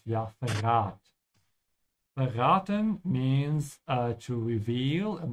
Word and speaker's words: verrat: Be careful with the V, pronounce it like an F. Ja, verrat.